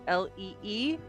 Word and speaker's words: Jeanne: is spelled JEANNE. JEANNE. Thank you very Pronounced much. Jean, not Jeanne. Incredible.